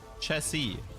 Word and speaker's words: chassis: And then people are like, oh yeah, by the way, it's pronounced chassis. It's not pronounced chassis because you don't pronounce the S.